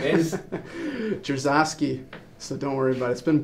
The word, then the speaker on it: Dzierzawski: And for the knowledge of the Peterhead fans, your pronunciation of your second name is? Dzierzawski.